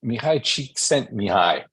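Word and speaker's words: Mihaly Csikszentmihalyi: Okay, so this Hungarian guy's name is Mihai Csikszentmihalyi. It took me a long time to figure out how to pronounce that.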